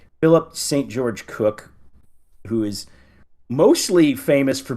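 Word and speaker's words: Cooke: I've heard it pronounced as Cook. Cook. Thank you. Okay. So we got All right. So we got Philip S Philip St. George Cook, who is mostly famous for being the only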